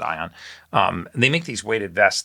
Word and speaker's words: Aion: These guys at Aeon, AION, I think they pronounce it Ion.